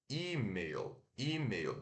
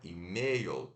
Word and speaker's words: e-mail: céu da boca tá então e meio meio então é e meu e meu não é e-mail não é e meu e meu e meu o i que é a sílaba tônica e-mail e-mail então a